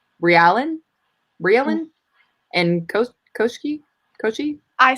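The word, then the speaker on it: Koschei: So the second one is Koshe.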